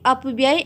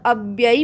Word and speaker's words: अव्यय: तो सबसे पहले इसको अब यह मत बोलिएगा कई बच्चों से मैंने इसका उच्चारण अपडेट करते हुए सुना है अब यह अपव्यय और अव्यय में बहुत फर्क यानि जमीन आसमान का फर्क है यह होता है